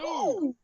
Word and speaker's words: Scoob!: You have to say it like that because it's got an exclamation point. Scoob. Scoob!